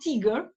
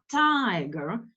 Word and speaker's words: tiger: long tiger it's alone it's not Tigger okay like contraction Tiger so it's a long vowel next one I like